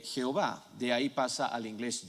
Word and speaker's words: Jehová: pronunciar el nombre entonces cuando un judío está leyendo esto él va a decir bayern a mal adonay porque se nota que las vocales de adonay están ahí adonay en la aiba el cristiano dice o así se pronuncia el nombre entonces el cristiano va y dice y agua y que entonces ese es el origen en realidad de jehova de ahí pasa al